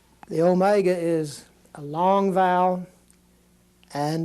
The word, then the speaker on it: omega: a little w the Omega is a long vowel and it's going to be pronounced like a long o and like say the word note the word note so